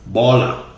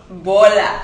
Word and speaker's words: bola: Baller. Bola. See, you say baller. Bola. All right, so it's is that funny?